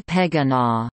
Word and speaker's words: Pequegnat: Company advertisements explained the pronunciation of the name as "Say Pequegnat."